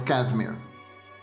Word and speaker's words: Casimir: So anyways, the name idea I had was Casimir. Good, good, rhymes with cashmere.